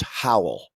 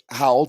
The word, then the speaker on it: Howell: you know it yeah so how old davies like towel yeah exactly nice job there he